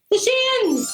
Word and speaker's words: The Shins: It rhymes with chins. The Shins!